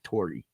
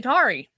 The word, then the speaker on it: Tauri: look at it and I want to say Tory. Yeah. I don't know why. Oh yeah, it's just the way it's spelled. You'd think it was Tory. No, but it's actually Tari.